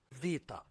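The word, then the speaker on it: ⲃ: The second one is Vita, Vita, and this one is pronounced as V or B, generally as V, but when it's the last letter in the word, it's pronounced as B.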